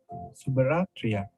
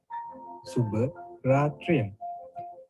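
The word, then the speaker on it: සුබ රාත්‍රියක්: Next one is Subaratriya. Subaratriya.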